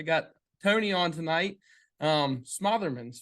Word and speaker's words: Smotherman: Tony on tonight um Smotherman Smotherman how do you say your last name Tony you got it the second time Smotherman motherman okay perfect